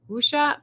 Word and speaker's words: wuxia: And if you don't know what wuxia is, I Google pronounced it.